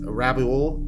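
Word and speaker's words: Rabaul: volcano though the volcano I believe it's pronounced rabol in Papu guini and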